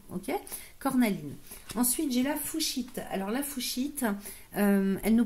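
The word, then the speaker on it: fuchsite: Ensuite, j'ai la fouchite.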